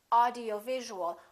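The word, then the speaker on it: audiovisual: we say science now when you have a long word like this audio visual audio visual has six syllables audio visual in that case you really it's very important to know which syllable is stressed in this case it's going to be right here audio visual audio visual how do we stress the syllable we make it longer and louder and higher in pitch audio visual now let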